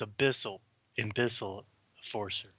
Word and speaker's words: Abyssal Enforcer: And by the way, it's Abyssal Enforcer.